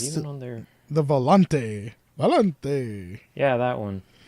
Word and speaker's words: Volante: You gotta say it like Alex Trebek is saying it whenever he does his accents. Volante. It's like, dude, you don't have to say it like you are Italian.